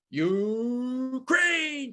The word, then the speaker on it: Ukraine: so here it is the rain in spain falls mainly in you crane can you say that